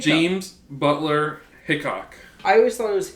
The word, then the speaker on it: Hickok: I always thought it was Hiccup. James Butler Hickok.